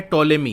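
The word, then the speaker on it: Ptolemy: अब एक Greek mathematician है टॉलेमी, यहाँ पी साइलेंट रहेगा, टॉलेमी describe the latitudes and longitudes of thousands of locations including Ujjain, that is Ujjain.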